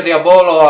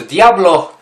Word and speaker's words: Diabolo: wśród Diablo halo halo Pisze się Diabolo ale na bazarze zawsze się gada Poproszę wśród Diablo już wiadomo o co